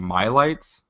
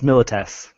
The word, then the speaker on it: Milites: Like, and then the other one, how do you pronounce this? Is it Mylites? That's Milites. Milites.